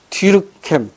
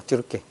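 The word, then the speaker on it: Durkheim: 이걸 누가 얘기했냐면 뒤르켐. 이게 이제 미국식 발음인데 이 사람 원래 프랑스 사람이에요. 프랑스식 발음을 하면 뒤르깽입니다. 뒤르깽.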